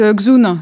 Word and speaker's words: Dxun: Quelle planète est-ce que tu parles La planète Xun, ça s'écrit DXUN.